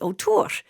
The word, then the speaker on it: O'Tuhr: the the best way I can formulate this word and reproduce it is ur and it's almost like a bird whistle and a rolling r at the end our.